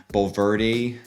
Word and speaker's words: Bulverde: Bernie, Boerne, is pronounced Bernie, not Born. Bulverde, that could go either way.